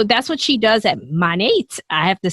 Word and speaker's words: MONAT: in charlotte north carolina and now she's a monet uh market partner so that's what she does at monat i have to say it right but it's